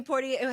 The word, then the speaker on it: Poitier: Sidney Poitier.